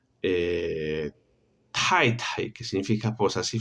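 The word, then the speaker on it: 太: Tai, tai, que significa esposa. Sí, fíjense que es un sonido como la T, pero yo exhalo, ¿sí? Ese sonido, tai, tai.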